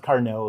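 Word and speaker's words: Carnot: And by the way, it's pronounced carno like a French guy. Um but uh it's a very famous power cycle. Um, I said that so a carno power cycle is one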